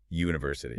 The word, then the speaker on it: university: University. U. The very first phonetic sound is a hard Y. That Y sound is a consonant.